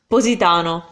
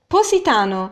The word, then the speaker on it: Positano: mean City next one Positano Positano so Positano again have the difference between the two as SS SS yeah Isis so for her she's gonna see more with S sound worse for me I'm saying it the more standard Italian way our city Bombay bump